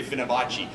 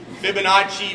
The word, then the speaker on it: Fibonacci: know what it is how do I pronounce Fibonacci I wanted to say fibach Fibonacci math um with fifth